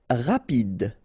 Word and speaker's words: rapide: Rapide. Final E not pronounced, so rapide.